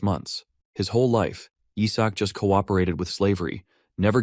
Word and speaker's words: Izak: Even though his name is Yisak, these guys always pronounce it wrong and call him Isaac instead.